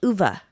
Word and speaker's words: Ove: it's A Man Called Ove, it's because it's pronounced A Man Called Uva.